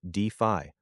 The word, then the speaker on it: DeFi: Focus on DeFi, pronounced DeFi, protocols that generate actual yield and utility.